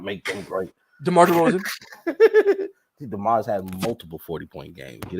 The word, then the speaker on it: DeMar: DeMar's had multiple 40-point games. Get it right. Lows. And next time, say his name right too. It's DeMar just chosen one.